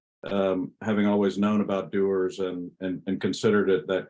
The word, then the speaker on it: Dewar's: the wonderful Folks at doers uh not dwars uh I I had to learn how to say the brand correctly in recent years but how did that